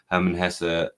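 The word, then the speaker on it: Hermann Hesse: on my Herman Hessa um thank you for the instruction on how to pronounce that from the audience Herman Hessa I read narcissist and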